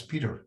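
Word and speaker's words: Pieter: And although there is that I in there, you still pronounce it in Dutch as Peter.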